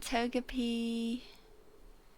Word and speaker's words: Togepi: And Togepi That's how you say it.